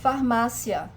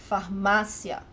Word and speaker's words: Farmácia: Farmácia. Farmácia. The trick here is that the stronger syllable is not at the end of the word. Farmácia. It's the syllable with the graphic accent.